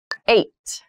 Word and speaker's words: eight: week there are seven days in every week eight eight eight so the next number is the